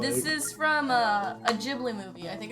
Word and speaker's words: Ghibli: like done in Ghibli. It's done in a what's it called? Glow in the dark. Studio Ghibli. Ghibli. Ghibli.